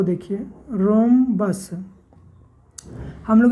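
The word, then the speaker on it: rhombus: देखिए रोंबस हम लोग इसको या पढ़ता है रोंबस पड़ते हैं यहां पर आ रहे साथ है एक साइलेंट है अगर साइलेंट नहीं रहता तो यहां पर हम ब्रह्म बस पर देते बट यह हम बस ने रोंबस है एच क्या है साइलेंट है तो एक साइड का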